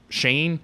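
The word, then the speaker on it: Schoen: the most blame here is Shane that's how you say it Joe Shane Joe Shane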